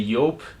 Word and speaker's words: Joop: So today I have two fragrances from the house of Joop or Joop. Depends how you pronounce it. I say Joop.